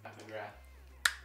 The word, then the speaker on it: McGrath: Am I saying it wrong? PAT McGrath? PAT McGrath. Is it TH? Yes. PAT McGrath.